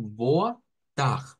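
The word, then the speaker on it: boa tarde: Es decir, si nos cuesta gesticular el sonido de la R francesa, pues podemos recurrir a pronunciarlo como una J. Entonces vendríamos diciendo algo como boa tag, boa tag.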